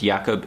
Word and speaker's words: Jakob: It's not Jacob, it's Jakob Ingebrigtsen, I believe.